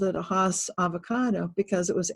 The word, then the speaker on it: Hass: live in California we always called it a Hass avocado because it was H AAS but now it's never been that has only